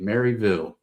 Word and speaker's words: Maryville: Mary like the the girl name Mary. Maryville, Tennessee.